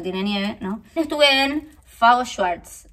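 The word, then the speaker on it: FAO Schwarz: nieve no estuve en fago swartz así se pronuncia es la juguetería de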